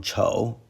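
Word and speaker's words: 臭: The final review character is chou, fourth tone, stinky, woo!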